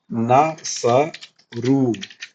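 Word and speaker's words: نصروا: Extra लग जाता है ये अलिफ को पढ़ना नहीं है ठीक है ये अलीफ ऐसे ही साइलेंट रहेगा ठीक है इसको खाली नसरु पढ़ना है ठीक है और नसरु हुम के लिए यूज़ होता है।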